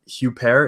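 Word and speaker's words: Huppert: foreign film French and uh it stars Isabella huper is that how you say her name yeah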